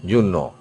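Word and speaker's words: journaux: it will be a u x in plural Juno Okay Juno means the newspapers these are also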